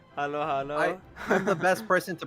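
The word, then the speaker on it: halo-halo: um Rivers is hello hello hello H it's Halo Halo Halo Halo I'm the best person to pronounce it it's Halo Halo Halo Halo um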